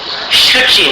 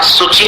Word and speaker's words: शुचि: यहां क्या उच्चारण करना है, शशांक, उद्यत शशांक शुचि निर्झर। अब यहां सूची नहीं बोलना, शुचि बोलना।